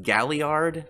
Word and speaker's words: Galliard: right then jack has a believes name is pronounced Galliard the the jaws tighten well actually it's between